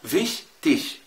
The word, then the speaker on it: wichtig: أو wichtig أو fleißig. شايف الإي جه في الآخر؟ شين خفيفة خالص زي وكأنها سيها، يعني